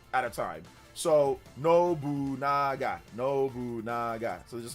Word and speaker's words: Nobunaga: Oh, because people were letting him know, Charles, that he mispronounced it. Nobunga. Yeah, Nobunaga.